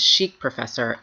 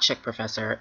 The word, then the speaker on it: chic professor: of Jessica's channel name it is chic professor not chick professor and I told myself